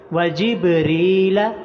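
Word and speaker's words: جبريل: کے نیچے زیر ہے۔ وجبریل، را کے نیچے زیر آ گیا ہے تو صرف را کو لمبا کریں گے۔ وجبریل ومیکال،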